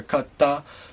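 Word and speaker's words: かった: you would pronounce that you notice that there's a little pause in there and it the T becomes a Double T almost like so keep that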